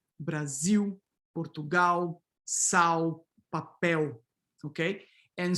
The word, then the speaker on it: Brasil: Coda L in Brazil is fully vocalized, right? So this orthographic L here is pronounced like a W. Brasil, Portugal, sal, papel, okay?